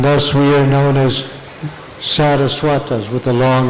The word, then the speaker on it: Saraswata: Saraswata, that's with a long A in the beginning, Saraswata is his patronymic.